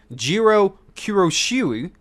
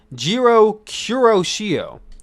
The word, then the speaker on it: Jiro Kuroshio: that guy we have ikiman jiro the former jiro kiroshui oh my i butchered his name jiro kuroshio there we go of wrestle one so he's